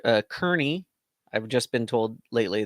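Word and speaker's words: Kearney: to make it in under 24 hours to Kier Kier uh Kerney I've just been told lately that it's called pronounced Kerney um in Nebraska and that's going to be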